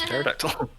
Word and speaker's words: pterodactyl: in front of it because the p is silent it's pterodactyl he's terror terror terror